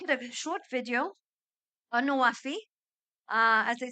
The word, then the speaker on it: NWFE: Egypt's country platform for the Nexus of Water, Food and Energy, pronounced in Arabic as NWFE, which means fulfilling pledges, is a platform which brings together different stakeholders.